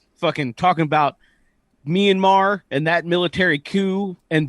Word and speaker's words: Myanmar: a a sorry a minamar because the person who asked the question doesn't under doesn't know that myanmar is how you say the cut the country's name uh why couldn't a